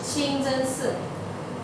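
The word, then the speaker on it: 清真寺: Okay, and then this should be the way to pronounce the mosque. The mosque. Qingzhensi.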